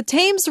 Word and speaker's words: Thames: London nằm ở đông nam nước Anh, trên sông Thames (phát âm là "tems").